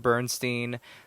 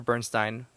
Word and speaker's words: Bernstein: artists like Jean-Michel Basquiat, Leonard Bernstein, or Bernstein. I think I might have been mispronouncing it. I think it's Leonard Bernstein.